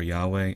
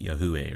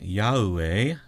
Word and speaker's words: Yahweh: Yahweh. Don't vocalize the H, but the H is only demonstrating that this is an ah sound. Yahweh. So, Yah. Don't do Yahuwah.